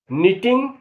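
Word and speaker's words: knitting: अब इन शब्दों का उच्चारण देखें, जैसे रॉन्ग, नो, नीटिंग, ऑनेस्ट, शाम। अब देखिए नीटिंग में के और दूसरी टी का उच्चारण नहीं है, बोलने में नीटिंग ही आया।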